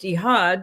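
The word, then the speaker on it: echad: Because in Hebrew Esha, E C H A D, but it's pronounced Ehad in Hebrew, it's absolute unity.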